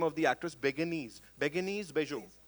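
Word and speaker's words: Bérénice Bejo: How do we pronounce the name of the actress? Beguenese, Bejo. Berenice.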